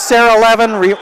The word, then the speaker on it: Levin: Yeah, she always says Sarah Levin rhymes with 11, right?